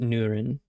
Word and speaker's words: Nurin: Nurin. You know, maybe it's just like Durin, the dwarf, but Nurin.